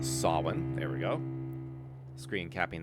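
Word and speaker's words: Samhain: Sin approximately pronounced Sin.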